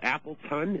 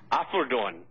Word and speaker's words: Apeldoorn: And the town is called Appleton? Is that what you said? Apeldoorn. Apeldoorn. Afffeldoorn. Okay. All right. And pronounced in Dutch or German, it's Apeldoorn.